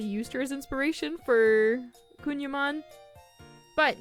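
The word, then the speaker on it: Kouign-Amann: before making this video I've been pronouncing it wrong since I saw the word I was pronouncing it like kogan Aman or something like that and I had to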